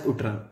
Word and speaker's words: UTRAN: is called as utram if you want to pronounce it you can pronounce it as utral okay yes so umt